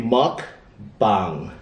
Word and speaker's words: mukbang: Mukbang or bang, or it's supposed to be mukbang. That's the right pronunciation.